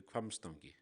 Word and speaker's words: Hvammstangi: be here and we are I'm at uh hamstangi I'm not sure if I'm saying it right if you could correct me please please do so no that was close it will close it's called the crumbs donkey so it was almost at it right okay